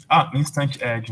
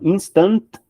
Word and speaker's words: instantiate: Instantiate. Instant add, né? Não. Instantiate. Tudo junto. IAT aí falta. Não é aid. Instantiate.